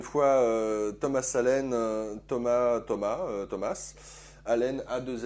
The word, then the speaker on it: Thomas Allen: Thomas Alen Thomas Thomas Thomas Alen A2 L N puisque je je le prononce avec l'accent anglosaxon puisque à l'origine c'est